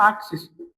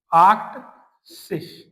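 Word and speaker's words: achtzig: जीभ 71 को वन एंड 70 तो आइन और जिप्सिस ओके 80 को बोलते हैं हम आशिष आसिस बिल्कुल आसानी से आप इनको कंपेयर भी कर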